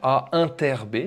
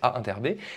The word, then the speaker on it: inter: Noté de cette façon-là avec ce U à l'envers, A inter B, c'est comme ça qu'on le prononce, A inter B, c'est l'ensemble des X de E qui appartiennent à la fois à A et à B.